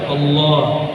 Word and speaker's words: Allah: Coba baca Allah. Allah. Yang benar bacanya Allah. Allah. Hak besarnya itu diberatkan.